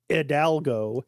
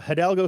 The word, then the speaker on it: Hidalgo: Harding consistently calls her Hidalgo he never pronounces the H on her name but um uh there's